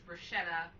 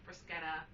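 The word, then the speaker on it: bruschetta: pronounce it I know in America everybody says Bretta it's not right it's pronounced Brisa anyway okay that went nowhere okay so uh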